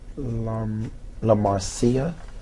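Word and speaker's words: LaMarcia: La Marcia. Right. Is yeah, her name is La Marcia. So not Marcia. No, not Marcia.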